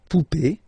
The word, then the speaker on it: poupée: Remember, this final E is not pronounced, so you will have this E. Remember, accent aigu, it's E sound, okay? La poupée, the doll.